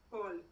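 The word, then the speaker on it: קול: letra l lam correcto Entonces como esto es una palabra monosílaba ya esto no se dice a sino que se dice o Y qué dice acá entonces col col exactamente col así como la verdura en español pero col significa voz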